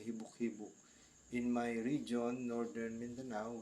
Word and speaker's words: hibok-hibok: apostrophe talaga iyan e hibok-hibok in my region Northern Mindanao we pronounce hibok-hibok with exclamation point may exclamation point talaga yang hibok-hibok at ang ibig sabihin